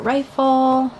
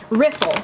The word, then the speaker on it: riffle: a very even rifle I keep saying rifle somebody's gonna like smack me riffle riffle its riffle riffle I know how it's spelled I see it right in my head I just don't say it correctly so I think this